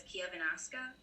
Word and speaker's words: Chiavennasca: know in valtolina they refer to it as Kiev anaska so those are my thoughts you nailed the pronunciation of which is the the local word